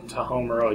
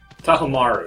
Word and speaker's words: Tahomaru: Tahomuro, you idiot. Tahomaru, excuse me. Now I'm just It's like...